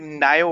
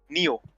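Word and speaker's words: Nioh: currently you have played nayo also Neo Neo is the correct pronunciation I use here you've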